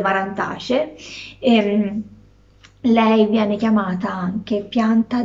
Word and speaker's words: Marantaceae: Si scrive Marantaceae, a della verità io dico delle Marantacee.